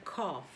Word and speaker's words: cough: A palavra tossir que é pronunciada cough.